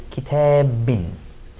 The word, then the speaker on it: كتابٍ: Again, the sound of adding a noon at the end of the word. So we would pronounce this kitabin.